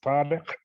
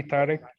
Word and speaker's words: Tarek: It's an Arabic name which is pronounced Tariq, but you can say Tariq.